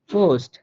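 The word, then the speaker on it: Post: যেখানে আপনি বসুক, শব্দের শুরুতে হোক, মাঝে হোক, শেষে হোক, যেখানে বসুক না কেন সে ফ এর মতো করে উচ্চারণ করবে। যেমন পাপিয়া, পাপিয়া, পোস্ট, পাপিয়া, পোস্ট, দেখেন ফেটা কিন্তু সব জায়গায় ফ এর মতো উচ্চারিত হইতেছে, পাপিয়া, পোস্ট।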